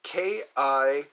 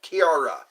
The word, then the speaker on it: Kiara: You said your name was Kira or Kyra? Let me see here. There's so many that I miss. So we're having conversation. Music and conversation. I'm going to write that down. Kiara. Kiara. That's how you say it. Kiara.